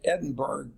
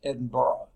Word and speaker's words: Edinburgh: in Edinburgh Scotland in fact that looks like Edinburgh doesn't it speak with any Scottish person this Edinboro there's no action syllable there they pronounces if there is Scots